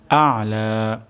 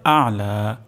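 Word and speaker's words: الأعلى: তো এখানে উচ্চারণটি হবে আলা আইন উচ্চারণ হবে গলার মাঝখান থেকে আর এখানে হালকা পরিমাণ চাপ আসবে রব্বিয়াল আলা সুবহানা রব্বিয়াল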